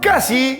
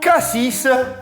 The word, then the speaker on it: Cassis: Tu vois, si tu es un vrai provençal, tu prononceras Cassis. Par contre, si tu es un étranger, on va dire, qui vient d'au-delà d'Avignon, hein? alors là, tu prononceras Cassis.